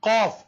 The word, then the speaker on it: Qaf: Then Al-Harfan al-Lahwiyan, Qaf and Kaf, will be pronounced with the raising of the back end of the tongue and touching the soft palate. And difference between Qaf and Kaf, we told